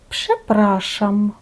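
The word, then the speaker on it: przepraszam: В деяких словах RZ читаємо не як твердий ж, а як твердий ш, тобто подібно до буквосполучення С. Чому так? тільки в позиції після глухого приголосного, який саме оглушує ж. І під впливом такого сусідства відбувається перехід ж в ш.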